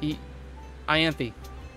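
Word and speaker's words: Ianthe: I know you pronounce the E at the end, which threw me for a loop when I first found out. Because I want to say Ianth, because it sounds much smoother.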